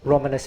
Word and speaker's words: Romanes: So the language of the Romani is called Romanes. Romanes if you want to use English pronunciation.